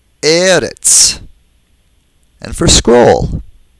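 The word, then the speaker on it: ארץ: They're all penultimately stressed. That is, they all have stress on the second to the last syllable.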